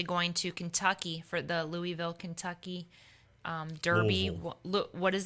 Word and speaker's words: Louisville: from people down there it's not Louisville it's Louisville see I Louisville I thought it sound I mean it spelled like it